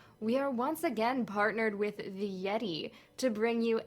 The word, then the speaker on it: Yetee: Just remember, Yeti is spelled YETEE.